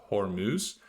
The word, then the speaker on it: Hormuz: The Strait of Hormuz, it's pronounced Hormuz, is effectively closed to all shipping.